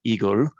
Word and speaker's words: IGEL: december and so um igel is the word in german it's called igor and that is the word for hedgehog and that's not a